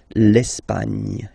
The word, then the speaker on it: Espagne: Okay, don't insist on the final E because basically it's not pronounced. L'Espagne.